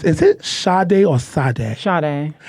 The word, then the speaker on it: Sade: Sade. It's like Sade. The singer. Sade. It's Sade. So for y'all that's watching, for y'all that's watching, everybody gets it wrong.